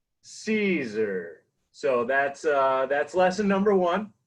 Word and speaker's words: Siser: I always start my lessons here on how to properly pronounce Caesar. So say it with me. Caesar.